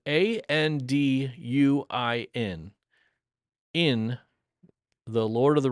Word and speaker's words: Anduin: Well, as it turns out, the word was intended to be pronounced Anduin. Anduin is the way the author, Tolkien, originally would have pronounced that.